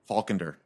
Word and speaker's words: Faulkender: Faulkender.